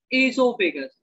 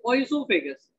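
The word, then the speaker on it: oesophagus: the tubular structure called asophagus it is oisophagus o is silent here so it is called as isopagan okay so see suppose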